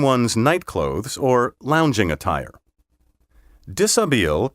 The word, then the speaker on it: dishabille: Dishabille comes from a French verb meaning to undress, which explains why it has all those silent letters.